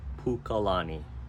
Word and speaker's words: Pukalani: it's also part of up country and it's pronounced Pukalani if you go from there further to the